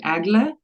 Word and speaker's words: Egle: just want to say my name is pronounced like AGA for anybody yeah it's it's Lithuanian a little bit different so but Eagle is okay yeah so agle uh let's begin with